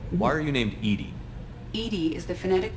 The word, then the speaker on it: EDI: should be reminded why are you named edie edie is the phonetic pronunciation of edi that is an acronym for